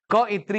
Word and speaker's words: कवयित्री: क्या थी? कौइत्री। कैसे? ऐसे ही बोलेंगे, हिंदी भी आपके सिलेबस में है। कौइत्री, ये आपका पूछा जाता है स्पेलिंग में, वर्तनी में कौइत्री बोला जाता है।